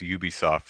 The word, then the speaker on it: Ubisoft: I have I'm I'm pretty sure it's Ubisoft though because I I think that it's supposed to be UB as in ubiquitous but um yeah uh so that was ubisoft's show and it was